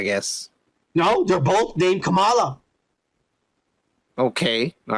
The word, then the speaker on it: Kamala: Kamala, yeah, that's her name, Kamala Khan. Kike. Yeah. That's how you say it, you fucking racist. You said Kamala, not Kamala.